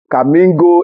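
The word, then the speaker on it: Khanmigo: Number 1, Kamingo AI. Kamingo is spelled K-H-A-N-M-I-G-O.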